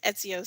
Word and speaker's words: Ezio: I know Ezio's story and how it all pans out. That's how you pronounce that.